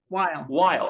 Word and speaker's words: Weil: She's the inaugural Andrew, is it pronounced Weil Chair or Weil? Weil, okay.